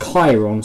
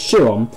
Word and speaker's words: Chiron: of these names but yeah I believe that is pronounced Chiron so that's the correction from one of the previous episodes right called it Shawn but honestly is the same spelling as the bugatti chiron so so makes sense